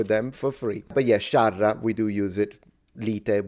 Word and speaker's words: sciarra: scerra, lite, No, it's not scerra. That's wrong. It's spelled correctly. It's sciarra. The A is pronounced A, not E.